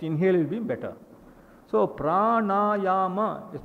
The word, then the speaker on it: pranayama: This word pranayama, when I hear somebody pronouncing it, pranayama and all that they say. As far as I know, pra-na-ya-ma. So there's dirgam in three places.